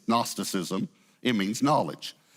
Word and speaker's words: Gnosticism: The G is silent. It's Gnosticism.